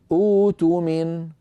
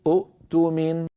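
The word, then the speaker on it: اؤتمن: لو وقف واقف فليؤدي الذي وأراد أن يبدأ بدء اختباري يقول أوتمن، ولا يقول أؤتمن، لأن العرب كما أسلفت لا تجمع في النطق بين همزتين ثانيتهما ساكنة.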